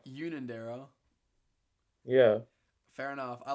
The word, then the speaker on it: Unanderra: It's pronounced Unanderra. Unanderra.